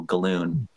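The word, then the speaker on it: Gallun: Z galloon speak pronunciations I believe it's pronounced as balloon so galloon uh a pulp writer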